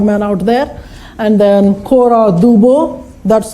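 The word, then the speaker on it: Cora Du Bois: This is called Cora Dubo, S is silent there.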